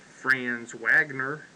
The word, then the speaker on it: Franz Wagner: Wagner play the Michigan or if you want to pronounce it in English Franz Wagner that's why we'd say it in Kentucky yes Franz Wagner and I'm sure he's German and he's probably Franz Wagner so yeah uh he